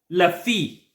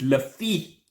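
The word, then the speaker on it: Le Fée: Lafy, I think it's how you pronounce it. That's how French people say it. I think it's le. It's not le. It's not le. So I think it's Lafy.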